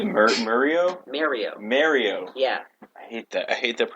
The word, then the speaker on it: Mario: spoke a little bit about the new Mario Galaxy. You say Mario? Mario. Yeah. I hate that. I hate that pronunciation.